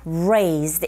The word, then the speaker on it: raised: Now try the second listening point, that is, born and raised here. 자, 본 아니고 R이 들어가 있기 때문에 born. R 소리 발음하실 때 혀가 어디에도 닿지 않게 조심하시고요.